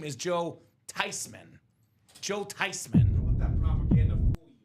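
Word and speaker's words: Thuney: "It's not Thesman. It's not Thyman. The proper pronunciation is Tyman."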